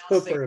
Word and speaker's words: Hooper: county and uh utah it's spelled like hooper but hooper but it's hooker if you're local and then on the